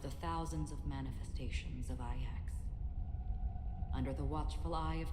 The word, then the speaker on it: IX: So his name is pronounced IX? It's not X, it's IX? Okay. So he is IX.